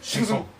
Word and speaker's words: Shang Tsung: How did they say his name? Shang Tsung. Shang Tsung. You just say it real fast.